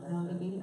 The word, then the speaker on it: Melody Beattie: This one comes from Melody Beattie, I think is how you say her name. Is that right? Yeah, Melody Beattie? Okay, very good.